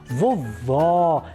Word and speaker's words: vovó: primeira com acento agudo Olha só vovó vejam que o timbre da vogal é mais aberto Olha só vovó né